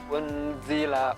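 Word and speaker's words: أُنْزِلَ: Ini juga nun sukun bertemu za, maka dibaca ikhfa. Ini juga termasuk huruf ikhfa. Unzila, unzila. Dibacanya samar-samar.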